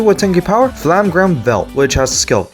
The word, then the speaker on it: FL∀MMe-G: Here's the starter, Flamgram Berklia. Yes, that's how you pronounce it, even though it says MMe-G.